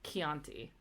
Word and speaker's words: Chianti: ciao and then see the combination CH only ever happens before the letter i or E and it's pronounced like a k so like Chianti and then you have